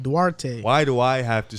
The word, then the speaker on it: Duarte: kelden johnson whatever dwarves he's dominican bro you got to say with a spanish kind of slang to it duarte why do i have